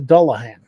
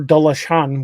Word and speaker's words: dullahan: Uh in Irish folklore, they call it the dullahan, uh or dalashan, which which depending on the pronunciation. Uh the second one's more of the Gaelic pronunciation, but it basically means dark man.